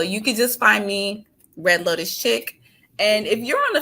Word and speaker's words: Red Lotus Chic: Okay, so you guys can find me at Red Lotus Chick, and Chick is spelled CHIC.